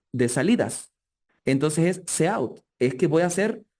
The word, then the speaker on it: cout: Yo lo pronuncio cout, ¿por qué razón? De repente ustedes ven algún video, alguna cosa y dicen cout. C es del lenguaje C, del lenguaje C++. Y out es de output, de salidas.